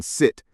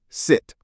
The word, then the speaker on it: sit: Now for the other one, the short I in sit sit. This is the short sound.